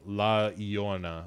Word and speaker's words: La Llorona: I still have trouble with the La Llorona, I think is how that is actually pronounced.